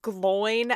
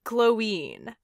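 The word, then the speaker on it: Glóin: like, it's not pronounced Gloin as in groin. Are you kidding me? No, it's Gloin, because there's an accent over the I.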